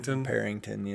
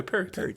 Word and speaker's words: Perryton: the road down there, he likes to jab me with the ing in there. Perrington. He does that. Okay, well, how do you say it? What's the correct? Perry. Okay, Perryton.